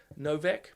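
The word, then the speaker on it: Nowak: We see it spelt with a W, but it's more of a V sound. So I'm assuming Simply Green, probably the etymology is Polish, would it be? Novak?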